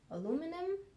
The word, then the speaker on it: aluminum: shade and you have aluminum aluminum I think the American Way of saying it I would say aluminium so anyways but it's